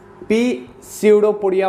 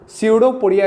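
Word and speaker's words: pseudopodia: तो इसको बोलते हैं पी स्यूडोपोडिया, मत बोलना स्यूडोपोडिया, इसको प्रोनाउंस करते हैं, समझ गए।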